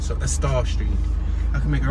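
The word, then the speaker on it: Estaugh: It could be Estall, but I think that G is silent. So Estall Street.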